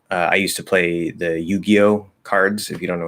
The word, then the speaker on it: Yu-Gi-Oh: And a lot of kids, when I was in middle school, they wouldn't say Yu-Gi-Oh, they say Ju-Gi-Oh.